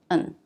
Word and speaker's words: an: The indefinite article an. Unstressed, it reduces to the schwa, un.